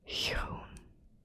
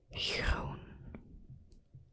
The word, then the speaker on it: groen: Another with the soft G. For green we have groen, groen.